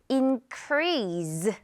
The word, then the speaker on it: increase: 자, 그런데 많은 한국인들이 increase 이렇게 마지막이 SE를 약간 z로 알고 있는 거 같아요.